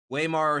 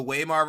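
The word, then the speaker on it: Weimar: But whenever it comes to the Wear Republic, I I always pronounce it with the English sounding W instead of the German sounding one.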